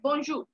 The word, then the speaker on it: bonjour: हाय जो bonjour है bonjour bonjour bonjour bonjour तो आर पीछे साइलेंट है bonjour तो वो है वो